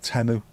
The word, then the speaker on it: Temu: That's how you pronounce it, by the way. Temu.